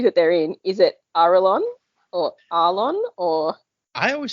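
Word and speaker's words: Arelon: they're in, is it Arlon or Arlon or I always said Airlon? Uh, according to this, it is pronounced Aron. Oh my god. I'm gonna say Aerolon. I'm I'm gonna continue saying that. Airlon.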